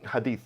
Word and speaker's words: hadith: Yeah, like they're very, That's how you pronounce it, right? hadith, yeah.